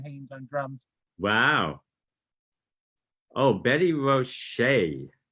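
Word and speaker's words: Betty Roché: Oh, Betty Roche, you pronounce the E.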